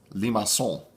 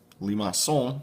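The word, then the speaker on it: limaçon: what I have heard apparently there's this cool C in French with a tail on it this is pronounced Limassol Limassol takes on one of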